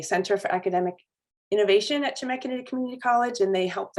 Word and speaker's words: Chemeketa: It's a hard word to say. When you just read it, you don't know how to pronounce it, but it's Chemeketa Community College in Salem.